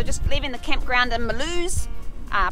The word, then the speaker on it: Mulhouse: leaving the campground in malus are probably pronounced Milhouse if you're going to say it in English another beautiful day it